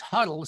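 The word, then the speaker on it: Huettl: on her last name told me that it was huddled so of course that was easy because now i could see it as phonetically h-u-d-d-l-e and yet it's h-u-e-t-t-l and it just plants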